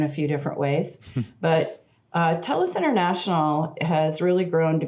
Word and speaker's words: Telus: and marketing them yeah so it's telus international tell us tell us no worries uh we we get it in a few different ways but telus international has really grown